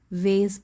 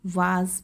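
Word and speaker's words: vase: से ही ठीक है, आप इसे वेस भी बोल सकते हैं, वेस, या इसको वाज भी बोल सकते हैं। एक यूएस प्रोनाउंसिएशन है और एक ब्रिटिश है, तो आप दोनों में से कोई सा भी बोल सकते हैं, वेज, फूलदान।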